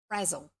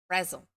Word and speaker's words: Brazil: terrible tomboy by Angela Razzle and the way they used to write it so people would get it correct if they were doing a pronunciation was b-r-a-z-z-e-l Razzle was it said anyway chapter five